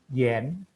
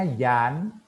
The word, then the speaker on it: yan: Karena di sini ini nanti kita bacanya menjadi yen, ian yen kan, jadi kita bacanya yen, yen. Loh, kok bacanya yen? Ini kan harus kan bacanya yan.